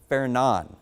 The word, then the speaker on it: Fernand: So the next name is going to be Fernan. So I know it says Fernand and that's how it looks like it's pronounced, but the official pronunciation is going to be fair.